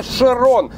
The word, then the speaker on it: Chiron: While we're on the coast let's make it clear that the car's name starts with C and H, but's it's a "Sheeron" , it's the last name of a great French racer Louis Chiron.